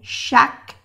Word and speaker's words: chaque: Aquí no se pronuncia la E, chaque jour.